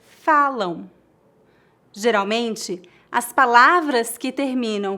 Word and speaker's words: falam: Note que não tocamos os lábios para pronunciar o M em final de palavras. Não dizemos falam, e sim falam.